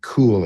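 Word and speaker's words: Kuhl: His name is David Cool. It's spelled K UHL and he did his PhD in giving lifealtering news to patients.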